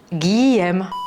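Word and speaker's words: Guilhem: Commence par dire Guy et après tu dis M. Tu sais, comme aimer, M. Guillaume.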